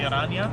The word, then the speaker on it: Araña: Is it Araña or Araña? It is actually Araña.